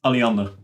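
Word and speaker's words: Alliander: I right in understanding that's Aliander I'm probably butchering the pronunciation of that yeah Aliander it's a power grid provider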